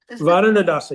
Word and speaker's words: Varaṇa-daśā: Varaṇa-daśā, yes.